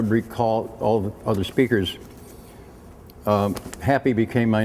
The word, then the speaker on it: Happy: I was called, and we lived in Mexico, and J is pronounced Ha, and P is pronounced Pei, so I was Happee, and I became Happee.